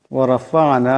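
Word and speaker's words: ورفعنا: ওয়ারাফা'না, এখানে আইন সাকিন, আওয়াজটা গলা থেকে আনতে হবে।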